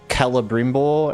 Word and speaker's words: Celebrimbor: Hard C, I think. Yeah, because it's like, if that's kind of like an Elvish pronunciation, I feel like Celebrimbor and like Calibor, like it almost has the K sound to it, right? Melamakar. Oh, Menel. Menel Makar. C is always K in Elvish, yeah.